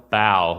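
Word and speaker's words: Baugh: ephesians by s m bowel b-a-u-g-h i believe it's how it's pronounced bow and um this is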